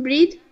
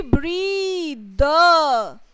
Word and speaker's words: breathe: How do you pronunciate it? Ma'am, breed. It should be breathe.